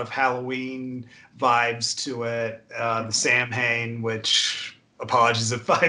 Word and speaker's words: Samhain: holiday Irish and Scottish origin it's a technically pronounced salad so salad and it's a it's it's weird cuz a